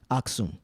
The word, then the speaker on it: Aksum: was a maximum right is that am I pronouncing it right Aksum yeah right so during the fall of Aksum